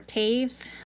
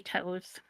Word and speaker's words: Toews: For Colorado, we have Devin Toews, or Taves. I can never say his name right. Taves. Yeah, I always want to say Toes, because that's how it's spelled.